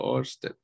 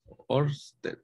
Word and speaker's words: Oersted: Yo digo Oster, va, pero no es, se pronunciará así, ya les digo. El apellido Oersted, Oersted, ¿verdad?, descubrió por accidente que una corriente eléctrica podría ejercer cierta fuerza sobre una brújula.